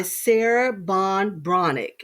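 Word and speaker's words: Sarah Ban Breathnach: But it's by Sarah Bond Bronick, is how you pronounce her name.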